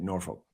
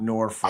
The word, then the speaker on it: Norfolk: That's how you say it. You say it Norfolk, not Norfolk.